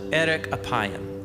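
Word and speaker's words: ארך אפים: In Hebrew, the phrase slow to anger is pronounced erek apayim, or literally, long of nose.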